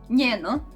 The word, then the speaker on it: njeno: Njeno. In Croatian means hers, and it is like N in the news.